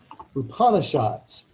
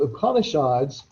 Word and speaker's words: Upanishads: to go ahead and hit the pronunciation on this one just because upon a shots so upanishads these are another set